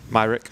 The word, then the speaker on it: Myrick: what how do you say your last name myrick myrick myrick so tell us a little about